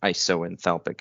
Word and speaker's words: isoenthalpic: And an isenthalpic or isoenthalpic, apparently both pronunciations are correct.